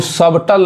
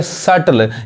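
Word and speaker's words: subtle: उसी तरह यहां देखिए इसको सबटल नहीं पढ़ेंगे क्या पढ़ेंगे सटल यानी यहां पे जो बी है वो बी क्या है साइलेंट है यानी सटल इसका मतलब क्या होता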